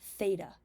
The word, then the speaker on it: Theta: middle of it um that symbol stands for Theta that's how you say it um and what